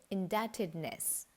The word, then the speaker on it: indebtedness: correctly pronounced as det likewise the letter b is silent in the word indebtedness and the hindi translation